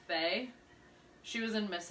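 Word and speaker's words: Fei: Oh, I know 3 of the mentors, and I believe it's pronounced Faye.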